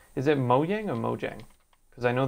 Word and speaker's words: Mojang: yang mo Jiang right because I know people pronounce it mo yang as well but Penley mo yang is the actual way to say it it's